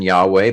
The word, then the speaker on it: Yahweh: But the fact that Isaiah would have said Yahweh, it is Yahweh.